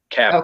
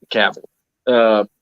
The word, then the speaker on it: Cavill: Okay, say it like travel, but okay, but Cavill. Okay. So, Okay, yeah. thank you, Nick. Thanks for the assist there. Yeah. Cavill.